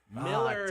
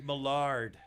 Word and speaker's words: Millard: say your last name last name is millard miller yeah not not not lard i was i thought it was millard i thought you were